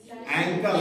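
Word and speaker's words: ankle: bone clavicle एंकल bone एंकल अंकल नहीं tarsal palm bone Meta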